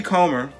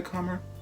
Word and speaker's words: Comer: time i say it jody comer don't say calmer come eat her coma jody comber does a